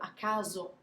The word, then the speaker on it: caso: end of the word, for Italians it's super important to pronounce those vowels at the end of words. You have to push until the word is over before you just relax. So a casa, a caso, those are two separate things.